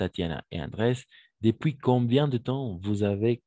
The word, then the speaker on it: depuis: Depuis se pronuncia depuis nomás, sin la S, ¿no ves?